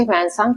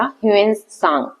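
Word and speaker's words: ह्वेनसांग: इसे ह्वनसांग पढ़ते हैं। है ना? या अलग भी प्रोनाउंसिएशन हो सकता है। देखो यहां पे लिखा है ह्वनसांग या ह्यूएनसांग। इस तरीके से इनका रीड किया जाता है नाम।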